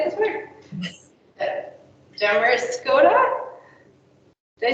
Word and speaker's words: Damariscotta: Damariscotta? Did I say that right? Yes, local state, Damariscotta. Damariscotta.